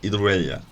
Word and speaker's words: Iruela: The 4 that we have on here today are Señor Jordan, Butterfly Spanish, Spanish Sessions and Agustín Hidroella. The last one is spelt Iruela, but I'm sure if